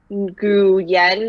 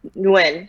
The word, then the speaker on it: Nguyen: what happens is that you have all these letters in my name but you kind of don't pronounce most of them and so instead of saying like gu yen or whatever you would pronounce phonetically you just say it when and that's it yeah it's kind of